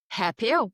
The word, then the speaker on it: Hapio: You have your company, is it pronounced Hapio? Hapio. Yeah. Hapio.